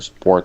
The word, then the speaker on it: support: Trying to think whether I add air, you know, whether the P is aspirated or not there. Poor versus bore. Support support. That's an interesting case. Maybe the S before it still is what kind of neutralizes that air because I think I don't blow out air on that P.